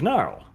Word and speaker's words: Gnarl: And then he launches another maneuver attack against Gnarl. Opposed weapon skill. Gnarl? No, it's gnarl. The G is silent. Gnarl. Arch, the G is silent. It's gnarl. It is. The G No. is silent. It is Gnarl.